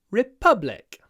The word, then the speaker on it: republic: Fran France is a republic a republic how do we put the stress on the second syllable by doing a pause before the p reublic a republic Republic